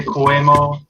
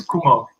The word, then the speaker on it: Koemo: Yeah, for years people say Koemo. It's Kumo.